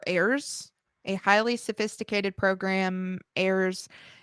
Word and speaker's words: Ares: I believe it's pronounced ARES or AIRS.